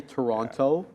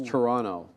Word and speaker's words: Toronto: because they don't say Toronto Toronto it's Toronto right we don't really pronounce a t and you should it's